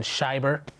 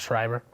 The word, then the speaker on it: Schieber: Also known as Schieber. Not Schreiber.